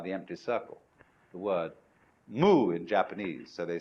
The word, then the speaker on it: mu: Mu. Oh, I had it on the other side of the board. It's represented by the empty circle. The word mu in Japanese.